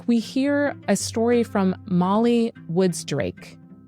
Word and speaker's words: Mali: So this week, we hear a story from Molly Woods Drake. Molly is spelled M-A-L-I, and that is her real name.